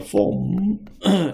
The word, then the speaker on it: foam: form, F-O-A-M, 이거 form이라고 발음이 되고요.